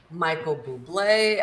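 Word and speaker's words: Bublé: it I try I've listened to Bing Crosby Michael Buble uh that's how you say his name um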